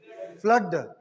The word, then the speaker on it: flood: But here, unexceptional case is this is pronounced as a cut sound, blood and flood.